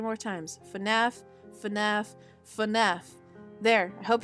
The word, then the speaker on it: FNAF: I know how to pronounce it because it's FNAF. FNAF. I'm going to say it 3 more times. FNAF, FNAF, FNAF.